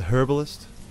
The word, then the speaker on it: herbalist: some herbs some herbs i always like the british uh the british the herbalist the herbalist that's the correct way to say it i'm just a big